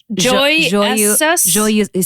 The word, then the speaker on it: joyeux: It's joyeux. See, it's been a minute. Joyeux. It's like EAUX.